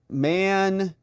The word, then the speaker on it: Mankato: Tony DeMarco says, in case it comes up again, Mankato. Pan, second part rhymes with NATO.